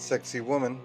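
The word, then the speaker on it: Sacsayhuamán: seven the sexy human sexy human pronounced sexy woman is an ancient Fortress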